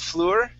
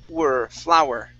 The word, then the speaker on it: flour: And our last word here is flour, instead of fleur, it's flour. Flower. Yep, just like plant that grows outside, flower, okay?